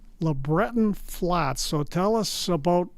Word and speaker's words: LeBreton: It's in an area called LeBreton Flats. So tell us about where the heck is LeBreton Flats? First of all, you nailed the pronunciation. Well done, Don. Big points for you. So LeBreton Flats, if you have been to Ottawa, most